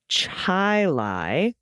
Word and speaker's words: Chile: La Fountain russiaville is russiaville uh Chile is Chai Lai okay and Milan is myelin some pronunciations reverting back to their Origins after Decades